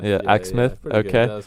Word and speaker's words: Exmouth: And you're from Exmouth, is it pronounced? Exmouth. Yeah, Exmouth.